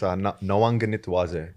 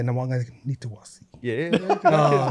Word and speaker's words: Nawaqanitawase: Yeah, it's Nawaqanitawase. Q's pronounces a G. Yeah, Nawaqanitawase.